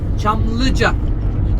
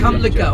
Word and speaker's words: Çamlıca: It is called, look at my mouth, Çamlıca. Not Kamlıca, okay? Çamlıca. C in Turkish, C. When you put that, became Ç. So Çamlıca. Because English and Turkish totally different pronunciation, you know.